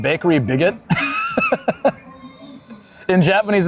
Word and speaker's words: Bigot: I work down at Bakery Bigot. It says bo in Japanese. So, I guess the T is silent.